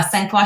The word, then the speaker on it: Sangfroid: initiatives uh from there yeah yeah so uh Sena strategy you pronounced it correctly thank you I'll start with